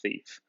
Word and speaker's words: fief: Fief is what the word looks like, but it's pronounced fief.